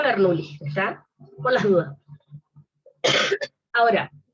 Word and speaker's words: Bernoulli: Les puse acá, se escribe, es Bernoulli, se pronuncia Bernoulli, ¿está?